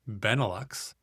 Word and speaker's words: Benelux: Benelux, pronounced Benelux, for Belgium, Netherlands, and Luxembourg.